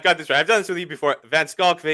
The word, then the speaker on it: van Schalkwyk: Vancock is the correct pronunciation.